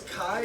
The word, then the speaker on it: chi: It's not pronounced chai. It's chi.